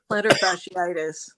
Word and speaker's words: plantar fasciitis: Plantar fasciitis. Yeah, Yeah. yeah, plantar fascist.